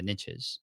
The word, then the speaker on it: niches: the idea that the riches are in the niches and i know it's pronounced niches but that doesn't rhyme as well um and